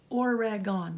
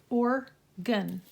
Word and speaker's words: Oregon: and they both said Oregon I'm like it's not or rag gone they're not three syllables just two or gun um paint I don't